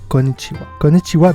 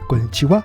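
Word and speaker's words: こんにちは: pour faire ce son on met le bout de sa langue derrière les dents du haut et on prononce vous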